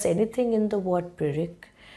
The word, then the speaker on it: pyrrhic: Can you ever stress anything in the word pyrrhic? If you pronounce pyr and then rick, well, it has to be a soft sound all around.